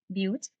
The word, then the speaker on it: but: three carbon is prop four carbon is but it's pronounced but five carbon is pent